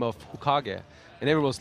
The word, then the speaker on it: Hokage: His own manager doesn't really know how to pronounce it, and I was telling him, "Well, it's Hokage. It's from Naruto. I know this."